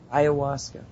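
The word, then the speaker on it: ayahuasca: that word which one the the hallucinogenic oh iasa iasa I I think that's how it's pronounced no you're right you're right I just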